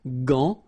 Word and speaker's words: gant: But in that case, you've got this A-N, so it's nasal, gant, and then final T is not pronounced here.